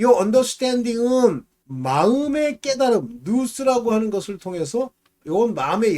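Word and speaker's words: νοῦς: 이 깨달음이라고 하는 것이 헬라어로는 누스입니다. 누스 또는 노스라고도 발음하는데 영으로 기도하고 스피릿, 깨달음으로 기도해야 된다. 영어로는 understanding으로 기도해야 된다. 이 understanding은 마음의 깨달음, 누스라고 하는 것을 통해서 이건 마음의 열매를 맺게 하고요.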